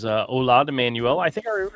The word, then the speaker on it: Hola: Says, hola. I was going to get it eventually. Manuel. Hola. H is silent.